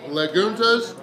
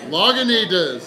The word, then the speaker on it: Lagunitas: with it is by laguna's it is their little something or the something ale and from everybody laughing it sounds like i mispronounced it i should have said lagunitas okay yes i was way